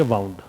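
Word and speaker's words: wound: अब आप पूछोगे सर ये दोनों स्पेलिंग तो सेम है, तो फिर इसको वाउंड और इसको वुंड कैसे पढ़ते हैं? बस इसी तरीके से उच्चारण से ही इसमें अंतर को ध्यान रखेंगे आप।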